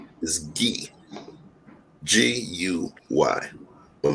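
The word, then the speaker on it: Guy: my real name is ghee g-u-y but my family's from haiti is pronounced ghee right and we ship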